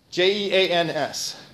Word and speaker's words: Jeans: my french expert here how do you pronounce that guy's name je ANS yes like blue jeans like David Bowie sing